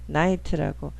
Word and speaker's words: night: night라고. 자, 이 단어 볼까요? GH는 보통 묵음이 돼요. 그럼 니트잖아. 이럴 때 I를 원래 자기 알파벳 이름이 I잖아요. 그게 자기 이름으로 소리내줘요.